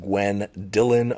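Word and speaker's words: Gwen Dylan: She believes her name was Gwendolyn, but they pronounce it Gwen Dillon, first and last name.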